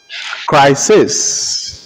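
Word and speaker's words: Chryses: So as the epic story opens, crisis crisis. Crisis is spelled C-H-R-Y-S-E-S. C-H-R-Y-S-E-S. Crisis.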